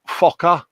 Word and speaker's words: Fokker: Fokker.